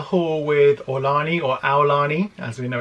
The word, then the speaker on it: Aulani: to start the hall with or Lani or Aulani as we know it's pronounced so we were Disney's Aulani for four